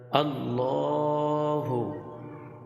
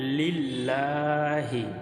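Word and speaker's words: الله: এখানে আল্লাহ শব্দ এটা এই আল্লাহ শব্দের তাসদিদ হচ্ছে এটা এই তাসদিদের ডানে যদি জবর অথবা পেশ থাকে তাহলে এই শব্দটাকে মোটা করে অর্থাৎ মুখ ভরে পড়তে হয় আল্লাহু আল্লাহু আবার এখানে লিল্লাহি এ শব্দটা পাতলা এ শব্দটা মোটা এখানেও আল্লাহ শব্দ আল্লাহ শব্দ এই তাসদিদ তাসদিদের ডাইনে জের হলে আল্লাহ শব্দটা পাতলা করে পড়তে হয় যেমন লিল্লাহি এটা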